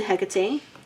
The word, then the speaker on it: Hecate: Mugwort is sacred to Hecate. That's what I'm gathering her name is actually pronounced.